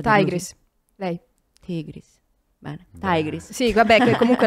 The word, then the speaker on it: Tigris: tigris lei tigris bene tigris Sì vabbè che comunque la pronuncia è sbagliata Bisognerebbe dire tigris però è stato sempre detto tigris e quindi tigris Tig